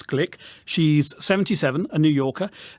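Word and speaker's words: Glück: are pronouncing it correctly it looks like look but actually it's click she's 77 a new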